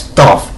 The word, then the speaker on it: Thoth: I thought it was Thor for some reason. No, it's Thoth. Thoth, I believe it's spelled.